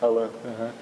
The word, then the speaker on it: Allan: É Alan a pronúncia, né? Alan.